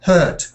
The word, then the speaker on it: hurt: Heart sounds a bit like this. Hurt. Hurt heart. Hurt heart.